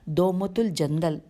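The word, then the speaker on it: دومة الجندل: اور ہے، ازرو یا دومت الجندل، اس کی ہجے کرتی ہوں، دال واو میم تے ہے، دومت الف لام جیم نون دال، دومت الجندل میں جمع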